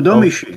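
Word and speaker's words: Domee Shi: What's up there with Domi Shi, or I don't know how to pronounce her name. I'm sorry. No, Domi Shi.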